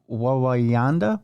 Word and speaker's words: Wawanda: town, but is it Wanda? I don't know. It's It's another town. Tell it. Uh Wawa Wawanda. Wawanda. That's what it is.